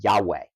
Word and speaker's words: Yahweh: name and and what how we kind of pronounce that today would be Yahweh that would be God's name